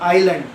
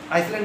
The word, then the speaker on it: island: आइलैंड, है ना जी, ISLAND, silent होता है, आइलैंड, आइसलैंड नहीं पढ़ेंगे, आइलैंड, है ना जी, आइलैंड पढ़ते हैं।